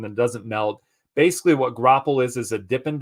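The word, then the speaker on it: graupel: question what is so it's not Grable that's okay you're doing great uh it's grapple um here I'll type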